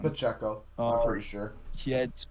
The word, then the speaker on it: Pacheco: touchdown an interception um Isaiah pachero or Pacheco um excuse me if I said his name wrong Pacheco I'm pretty sure he